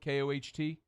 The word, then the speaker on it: Koht: Am I saying it right? Is it Koht, Koht? It is.